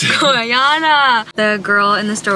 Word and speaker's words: Gorjana: i am cracking up i said the brand name wrong it's goriana the girl in the